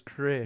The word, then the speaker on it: Krrish: Now he's Krrish. Now he's Krrish. 2 R's. 2 R's. Yeah. If you see that in the title, that's not a typo. Frosties, they're great. It's like that. That's how you pronounce it.